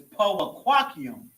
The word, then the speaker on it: powaquaqium: For eyes is powaquaqium. So, powaquaqium. Pa wa quaq ium.